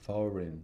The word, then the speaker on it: foreign: It's a 2-syllable word with stress on the first syllable. Foreign. Dada. Foreign. So we have to make sure our first syllable is long and the second syllable is short.